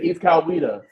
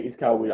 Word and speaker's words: Coweta: If you're gonna be covering this GA team, you gotta have the pronunciation right, brother. Sure. So you say East Coweta? Yeah. Okay, East Coweta.